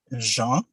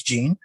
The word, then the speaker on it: Jean: in this panel uh my name is jean but can also pronounce as gene um i am a